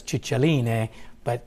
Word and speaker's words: Cicilline: Actually, the favorite has been Congresswoman Delors' correct pronunciation, which was Cicilline, which is the Italian pronunciation, but nobody uses it.